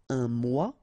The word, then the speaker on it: mois: Un mois, and then moi, me. Okay, so un mois and moi.